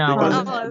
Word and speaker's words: hour: You say a hour or an hour? An hour. Because H is silent, right?